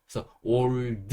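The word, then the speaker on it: old: 끝 의 " 어 " 소리 는 단지 발음 을 쉽게 하기 위한 것 이므로 , 강조 하기 보다 는 가볍게 발음 하세요 . " 올드 " 를 " 올 - 더 " 처럼 발음 하기 보다 는 부드럽게 발음 하는 것 이 좋습니다 .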